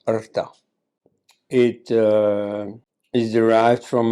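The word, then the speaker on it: ṛta: neither Dharma nor mosa it is AA usually pronounced in India as Rita or in South India as Ruta but actually pronounced AA it uh is derived from a verb meaning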